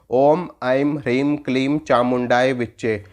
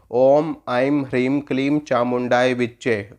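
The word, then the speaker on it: ॐ ऐं ह्रीं क्लीं चामुण्डायै विच्चे: इस मंत्र को देखो और उच्चारण कैसे करोगे, उच्चारण देखो, मैं बताता हूँ। ओम ऐं ह्रीं क्लीं चामुंडाय विच्चे, ओम ऐं ह्रीं क्लीं चामुंडाय विच्चे, ओम ऐं ह्रीं क्लीं चामुंडाय विच्चे।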